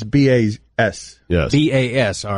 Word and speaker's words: Bas: Well, why are you pronouncing it Boz, though? Right. Probably like Baz or something. Exactly. Bass. B-A-S, right? Bas Rutten. Bas would connote a Z, right? Right. Yeah, it's like a Scandinavian Z.